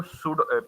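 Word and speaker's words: pseudo: है तो ये जो सड पी एस ई यू डी ओ इसको पी साइलेंट होता है सूडो पढ़ते हैं ठीक है और सूडो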